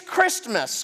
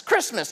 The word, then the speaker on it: Christmas: not called gift mus it's not called santus those are the only two I came up with you could come up with more I'm sure it's Christmas Christmas it's spelled c h r i s t mus christm it is centered